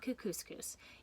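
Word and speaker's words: Kookooskoos: anyway welcome to camp cook couscous it rhymes with moose that's another good thing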